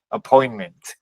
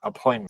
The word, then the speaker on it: appointment: Entonces, al ser una sílaba cerrada y además corta, entonces decimos appointment. Observen que otra vez, como decíamos al principio, la A es muy corta, appointment, ¿cierto?